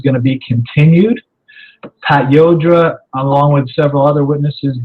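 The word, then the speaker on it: Llodra: Her name is spelled L-L-O-D-R-A, so I pronounce it Yodra, which I think is correct, but other people call it Lodra or Ladra or who knows.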